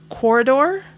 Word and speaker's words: Quoridor: Somebody also mentioned Onitama, and then Corridor, and that's spelled Quoridor.